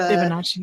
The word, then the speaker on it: Fibonacci: The Fibonacci.